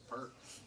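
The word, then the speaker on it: Pearc: Yeah, yours is spelled weird. P-E-A-R-C. Yeah, thank you. There we go. Perk. Perk.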